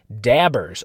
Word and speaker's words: daubers: got my shipment of 100 bingo dabbers, or daubers, as I think they are pronounced, or at least spelled, Daubers.